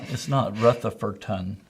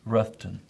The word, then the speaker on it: Rutherfordton: It's not Rutherfordton. It's Ruffton, and it's It's Spartanburg.